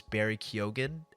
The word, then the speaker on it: Barry Keoghan: his name, so that's why I know it's Barry Keoghan.